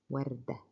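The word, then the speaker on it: وردة: Wardah has ha sound at the end.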